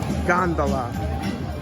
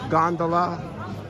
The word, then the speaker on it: gondola: And then G-O, as in gondola, gondola ride in Venice, G-O.